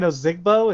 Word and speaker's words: Ozigbo: that we're getting back to that uh divine ozigbo is that how you say his name yeah